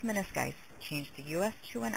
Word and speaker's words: menisci: word ends in US, change the US to I, pronounced as a long I. This patient was diagnosed as having torn both her medial and lateral menisci.